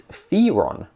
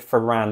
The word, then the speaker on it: Firan: guides in there and they seem to think it's Fon which I don't know I I look at I look at the word fan and it looks like fan not Fon and by this point